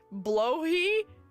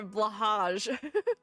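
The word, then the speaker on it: Blåhaj: It's pronounced blowhi. Blowh high. I didn't know that. Blowh high. I blahage.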